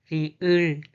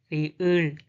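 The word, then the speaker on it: 리을: The pronunciation is la, la, la. The name is riul, riul, riul, riul, riul.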